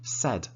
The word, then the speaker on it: said: we say say and pronounciation said it is a short sound said say said said